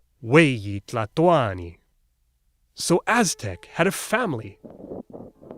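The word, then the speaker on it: huey tlahtoani: Oh, and they stressed the second to last syllable, Cuicatl, Weyi Tlatoani.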